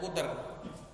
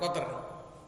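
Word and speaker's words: قطر: Wa qawlu wa hadramauta huwa alamun ala kutrin, bacanya kuter bukan koter, ala kutrin. Kalau koter artinya setetes, kalau kuter artinya wilayah.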